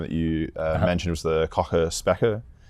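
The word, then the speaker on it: Kochen–Specker: And so I'm going to pronounce this wrong, but so the second no-go theorem that you mentioned was the Cauchy-Spekker? Cauchy-Spekker, yes.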